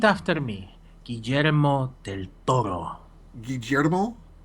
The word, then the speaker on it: Guillermo: me guillermo del toro guillermo with the j GJ demo that's how you pronounce a double l oh ok Jetta mother